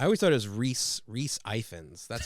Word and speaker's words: Ifans: yeah, I think it's Effens because I think his birth name was Evans, and I think this is the Welsh version of that because the Welsh have a weird way of butchering the English language.